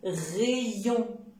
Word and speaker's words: rayon: Parce que AY, c'est comme A-I. S'il vous plaît, évitez de prononcer A, c'est E.